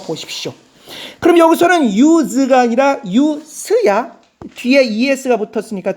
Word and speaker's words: use: 유즈 발음이 뭐야? 유즈입니다. 쓰다 즈로 꾸나 동사인 경우. 그러나 저것이 명사가 되는 경우는 발음이 유즈가 아니라 유스입니다. 유스. 그래서 명사일 때와 동사일 때 발음이 다른 경우가 많아.